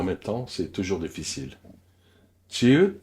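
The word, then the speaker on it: 지읒: Chieu se prononce comme un J léger sans souffle. La langue touche juste derrière les dents du haut. Pas loin dans la bouche, pas loin dans la gorge, juste derrière les incisives.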